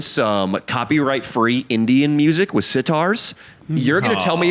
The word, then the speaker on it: sitar: spell that Sitar is S-I-T-A-R, but just sitar, copyright-free music.